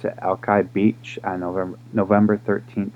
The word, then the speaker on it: Alki: of whom arrived at Alki that's how you pronounce it Alki Beach and over November 13 1851 but it